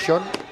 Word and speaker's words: Sean: Es una buena oportunidad para que dejemos de pronunciarlo en castellano y lo digamos como toca, Santi, que es Sean, que es inglés.